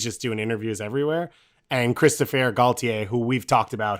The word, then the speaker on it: Christophe: It's Christophe, nice, not Christopher. What is he, not French anymore, Dave?